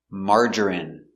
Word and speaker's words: margarine: with i n e we pronounce them all the same in in remember medicine margarine intestine or intestines more